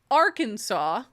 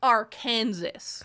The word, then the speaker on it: Arkansas: Instead of saying Arkansas, I said Arkansas.